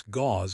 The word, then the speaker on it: gauze: Pronounce gauze if it is bleeding heavily. Gauze. That is a new one for me. It sounds like the word paws.